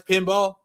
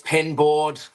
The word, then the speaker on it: Pinboard Media: That's pinball. It's pin board. Pin board. Yeah. Thank you. I I thought I was saying it wrong.